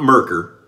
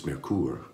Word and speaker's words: Merkur: got the merour I I asked a German a native German speaker who lives in Germany how to pronounce it and I he gave me the phonetic pronunciation I think it's marur so it's not merker even though we're in amera it's mercur kind of like the Mercury mercur you remember that